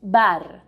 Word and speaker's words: bar: bar in spanish bar my only tip for you is that you try to get rid of that er sound as soon as you start speaking spanish and let me show you what i mean bar is definitely not the same as bar in spanish the r sound is much more even when it's alone what if we go